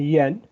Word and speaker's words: Yen: my taiwanese friends to call me yen okay like the japanese yen so it will be